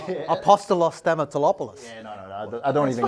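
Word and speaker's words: Stamatelopoulos: can they replicate or can they find Stapopoulos? I struggle to pronounce his name, but again, Stamatolopoulos. It took me all season to get that right. Don't worry. Let's get his first name. Apostolos Stamatolopoulos.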